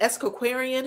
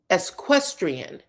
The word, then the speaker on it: equestrian: Equestrian. Equestrian is how it's pronounced.